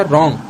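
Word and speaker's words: wrong: यहाँ पे जाएगा साइलेंट लेटर W और इसे हम पढ़ेंगे क्या? रॉन्ग.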